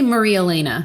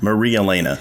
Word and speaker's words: Marielena: this show, uh I I am supposed to pronounce it. I say Maria Elena. Maria Elena.